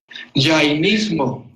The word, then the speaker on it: jainismo: Llanistas, ¿cómo se pronuncia en español? Jainismo.